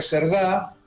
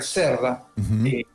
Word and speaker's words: Cerda: de la base de Pedro Aguirre Cerdá, Pedro Aguirre Cerda, esa es la forma de pronunciarlo, que fue un presidente de Chile que impulsó las expediciones antárticas de Chile.